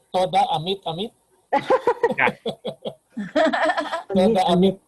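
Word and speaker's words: תודה: So, That's toda in Hebrew. toda, Thank toda, you. Toda. Yeah, Toda. toda. toda. Okay. Toda. Toda, Mm. Mr. Toda. Accent on the second.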